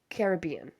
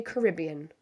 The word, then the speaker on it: Caribbean: I'm going to call it the Caribbean. If you say Caribbean, that is your prerogative. I am going to be pronouncing it as the Caribbean. So that's just what feels right.